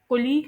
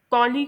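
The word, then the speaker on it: colleague: अब एक बात मैं आप लोगों को और बता दूं कि इस वर्ड को कोलीग नहीं प्रोनाउंस करते इसे कोलीग प्रोनाउंस करते हैं।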